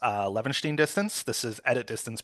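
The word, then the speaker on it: Levenshtein: for us okay so problem one um it's pronounced uh Lenin distance this is edit distance between two strings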